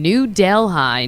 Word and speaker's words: New Delhi: We had a tour up in New Delhigh, New York. Uh, which is spelled New Delhi.